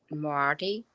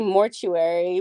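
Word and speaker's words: Moriarty: husband's secret um by I believe you say her name Leanne Marty yes the one that did like that book never fall and big little lies in my head I always say mortuary but I know that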